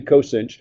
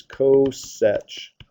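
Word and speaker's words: coth: cinch coin okay so that would be the coin guess how it's defined it's the reciprocal of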